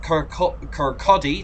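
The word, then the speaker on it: Kirkcaldy: go right next up car Kodi that's how you pronounce it not you not how you spell it in 12 miles so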